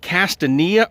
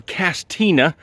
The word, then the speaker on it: Castanea: but we're in the Metropolis of castania or castina depending on where you uh were raised at and how you say it but we're gonna we're